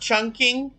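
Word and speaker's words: Chongqing: the kashmirian a possibility it's pronounced chunking okay ah yes the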